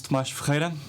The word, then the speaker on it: Thomas: please introduce yourself uh hello my name is toas I the writer director of Ina house at